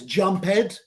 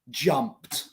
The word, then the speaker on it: jumped: scared as again scared another example jumped jumped is finishes in P jump so in the past p e d jumped nowhere's jump head jump head no existing jumped so please write me